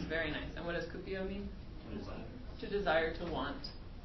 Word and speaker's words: cupio: And what does cupio mean? To desire, to want. Good. Yeah, cupio with a U like Cupid.